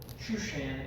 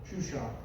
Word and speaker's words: Shushan: Shushan is the proper Hebrew pronunciation. That's actually what it's pronounced in the KJV and the Hebrew tongue. Shushan.